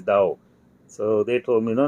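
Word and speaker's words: Dau: think that's you yeah the spelling is d-a-u but they pronounce is Dao so they told me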